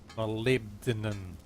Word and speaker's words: molybdenum: Molybdenum. I can't pronounce that very well. Molybdenum. What did I pronounce it? Molly, I always said Molly. Molybdenum. I presume if she says it, that's correct.